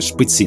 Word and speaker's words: Шпиці: Адже їх недарма назвали Шпиці я ставлю наголос у слові Шпиці на останній склад бо так роблять місцеві жителі крутою стежину